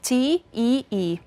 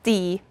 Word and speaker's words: tee: write it like this, T-E-E. If you would read it in English, then you would pronounce it tee. But in Estonian, read like you write it, tee.